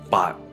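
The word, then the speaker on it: 八: as well as the number eight in Chinese uh bot it rhymes with the Chinese word for luck which is fat so with having you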